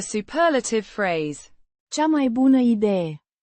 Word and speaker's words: Idee: Pronounced Ideieh. with stress on the first syllable.